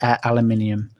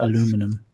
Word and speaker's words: aluminium: Yeah, and you also you don't know how to pronounce the what was it? Aluminium. You call it what? Aluminum. Because we couldn't let it have it.